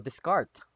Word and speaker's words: Descartes: Rene is Rene Descartes o Descartes. Okay? Yan ang kanyang pronunciation ng kanyang pangalan.